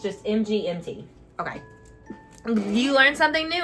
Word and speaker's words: MGMT: Oh, so it's just MGMT. Okay. It's not. Okay, it's just MGMT.